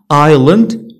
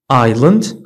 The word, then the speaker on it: island: S is not pronounced before L in the following words.